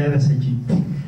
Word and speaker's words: Aedes aegypti: Por ejemplo, hay un mosquito que se llama el Aedes aegypti, que no lo pronuncian bien las personas, es el Aedes aegypti.